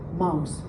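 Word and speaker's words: Maus: The name is the bark mouse. Mouse it's the same the pronunciation is the same as in English. That's Mickey Mouse.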